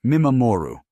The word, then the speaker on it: mimamoru: And the second pillar of Japanese parenting philosophy is a concept called mimamoru. Pronounced me ma moo roo Linguistically, this word is composed of two parts. Me meaning to observe and ma mo ru meaning to protect.